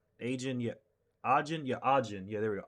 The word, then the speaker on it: Ajin: like uh like like Black Butler or a agent agent yeah ajin yeah ajin yeah they were ajin it's yeah pronounce art not agent Arjun uh but yeah